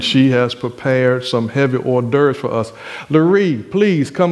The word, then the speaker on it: hors d'oeuvres: preparing for us these heavy horse divorce and then how you put that no that's that's that's stefan's pronunciation that's that's that's not the real but hors d'oeuvres uh before we go